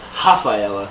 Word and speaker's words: Rafaela: girl whose name is Rafaela but she's Brazilian so it's pronounced with an H for the are so it's ha Phi Ella yeah so I she